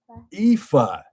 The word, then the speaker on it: Aoife: Aoife.